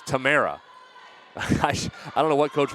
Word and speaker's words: Tamara: I had her as Tamara. It's Tamara.